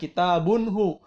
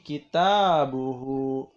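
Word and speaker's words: كتابه: Bukan kitabunhu, tapi kitabuhu.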